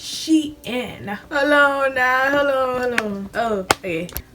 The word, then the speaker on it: Shein: This whole time, I thought it was pronounced Sheen, but it's actually pronounced Shein.